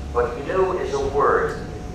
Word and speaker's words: GNU: Pronounce, say, the GNU system. However, in Italian, it's okay to pronounce it new, which is how you pronounce the name.